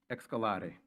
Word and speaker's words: Excalare: Well, first of all, the name, Excalare. It's a Latin type of pronunciation, of an Italian pronunciation, and it means to build, to nurture, to develop.